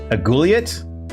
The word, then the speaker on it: aiguillette: Aiguillette? How do you pronounce that?